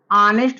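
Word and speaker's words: honest: पर यह जो है लिखा तो गया है लेकिन यह साइलेंट है इसका उच्चारण जो है अनिष्ट होगा लेकिन इसका उच्चारण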